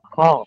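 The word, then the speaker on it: خاء: খ খ খ টা আমাদের এই গলার শেষ অংশ থেকে গ ইন খর আওয়াজটা মনে হবে কি গলার ভিতর থেকে আসতেছে আওয়াজটা মনে হবে আমাদের গালের ভিতর গলার ভিতর থেকে চলে আসতেছে খ খ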